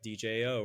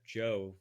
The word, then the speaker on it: Djo: Palooa such as like DJO or Joe how they how he pronounces it and everybody only